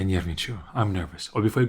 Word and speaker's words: нервничаю: Break the second word down into parts, into syllables. It will be much easier to pronounce kind of after you practice a bit. Because there's a lot of similar sounds like не, ни, нерв, all of that. So, я нервничаю.